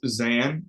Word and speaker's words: Xan: Sure, it's Zan for. All right, cool. All right, is it short for? It is short for. You're right. It's just the middle syllable. Instead of going by, I go by Zan.